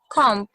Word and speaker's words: comb: have i've talked about calm brush hair brush brush yes or a hair brush thank you very much thank you the bee in a comb is silent okay yes thank you very